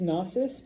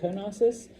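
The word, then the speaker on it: Knossos: Um, it's pronounced NSUS, but every now and then I'll say konosus, but those silent K's in Greek always, you know, I don't like them, but they're there.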